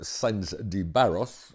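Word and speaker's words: Sanz de Barros: But as we talked about last week, the Ethics Committee consists of the President of the Senate, Carmelo Sainz de Barros. Okay, good pronunciation.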